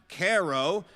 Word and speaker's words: Cairo: a town called Cairo, which is spelled Cairo, but it's pronounced Caro.